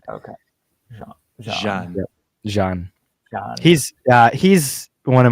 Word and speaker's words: Jean: remember a whole lot of others there was John I remember he's an a-hole right now yep it's the it's the the French pronunciation though it's j a an so it's Jean okay Jean he's yeah he's one of my favorite characters